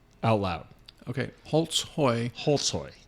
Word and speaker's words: Holtzhoy: Okay, Holtzhoy. Holtzhoy. But phonetically spelled Holtzhoy.